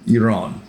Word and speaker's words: Iran: And I pronounce it Iran because when I lived in Bahrain, I knew some Iranians, and that's how they pronounced it. So that's why I call it Iran. It's not Iran, it's Iran.